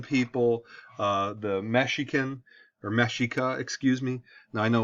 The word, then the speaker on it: Mexica: the pueblo in people uh the mexican or mashika excuse me now i know we say it